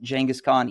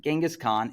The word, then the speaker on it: Genghis Khan: You might pronounce it Genghis Khan. Either is, of course, fine. And Genghis Khan is the famous Mongol